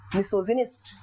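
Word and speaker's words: misogynist: देखिए, आप लोग जब इसको अकेला बोलते हैं GYNY तो इसको गाइनी बोला जा सकता है, लेकिन जब इसको आप लोग मिसो और इसके साथ ऐड करके बोलते हैं, दैट प्रोनाउंसिएशन इज मिसोजिनिस्ट.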